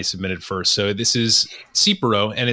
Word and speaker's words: Tsipouro: rundown that yanni submitted first so this is cipro and it's it's spelled t-s-i-p-o-u-r-o so it's a greek style clear